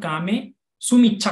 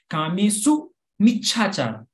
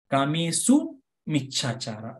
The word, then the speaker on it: कामेसु मिच्छाचार: दो अलग वर्ड है, पर हम लोग कामे सुमिच्छा कर देते हैं, ऐसा नहीं होना चाहिए। कामेसु मिच्छाचार मतलब कामयुक्त विचार में नहीं करूंगा, कामेसु मिच्छाचार, ऐसा वो प्रोनाउंसिएशन होना चाहिए।